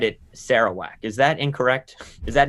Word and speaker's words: Sarawak: i've always said it sarawak is that incorrect is that an american ignorant pronunciation okay the correct pronunciation is sarawak no you don't pronounce the k but that's the correct